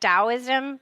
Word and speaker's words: Taoism: really more pronounced with it sounds like a d right taoism like you don't really